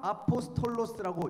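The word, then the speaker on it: ἀπόστολος: 다른 개념입니다이 사람은 조금 다른 개념이에요 사도 헬라어를 아포스톨로스라고 읽는 단어인데요 보냄을 받은 사람 보냄을 받은 사람들에게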